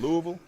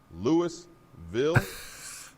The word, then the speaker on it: Louisville: And Louisville ain't Louisville, it's Louisville, all mashed together.